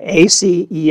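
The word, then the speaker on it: aceae: in the united states we are going to pronounce it in the us way which is ace so here is the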